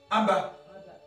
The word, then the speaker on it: Abba: Si on ajoute A ici et A ici, A et BA, ça te fait Abba.